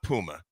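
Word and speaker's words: Mpouma: I believe it's Puma. The M is silent. Yes. Claude Puma.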